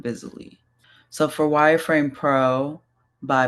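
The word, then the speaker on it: Visily: And then Vizily, which is like visibility but silly at the same time. Visally.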